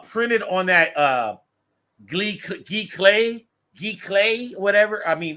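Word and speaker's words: giclée: expensive but you could get super cheat it's pronounced G clay as endless says uh uh over here on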